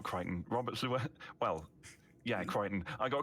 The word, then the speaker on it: Llewellyn: Red Dwarf, yeah, easily Robert Llewellyn. Yeah, Robert. Yeah. I see. It's funny. Everyone. I'm used to hearing people say Robert Llewellyn, but I automatically pronounce it Robert Llewellyn because of the Welshness.